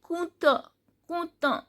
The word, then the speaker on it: compte: Then compte, T is silent and OU sound is U.